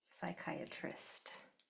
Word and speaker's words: psychiatrist: Psalm like the psalms that are in the Bible or um psychiatrist. You don't hear the I spelled that wrong. You don't hear the P, only the S.